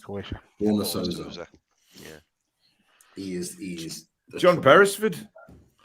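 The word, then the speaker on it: Borna Sosa: Berna Souza, or Borna Souza, I think he's pronounced. Croatia. Borna Souza.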